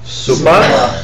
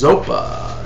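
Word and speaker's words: sopa: Supa. Dempa. Dempa. Supa often mispronounced as zopa, as in Lama Zopa Rinpoche. That's actually supa, which means patience or forbearance.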